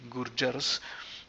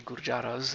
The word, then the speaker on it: Gurjaras: is as it appears then come the gurjars and not the gurjaras as unfortunately one is prone to pronounce it as because of the a but as i said quite often in indian words the a does not extend to become an ah just like the you